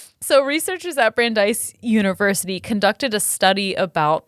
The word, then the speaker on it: Brandeis: acting in the same ways so researchers at brandy university or brandeis randy's randy's thank you i